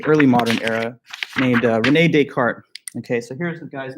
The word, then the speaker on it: Descartes: name because he's s this s is like silent in both cases descartes it's not really